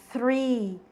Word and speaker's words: three: 3 é three. A pronúncia é mais ou menos de T com R. E árvore é tree, sem o H, certo?